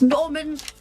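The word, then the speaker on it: Gnorman: It's Norman Nemple Demple. The G is silent.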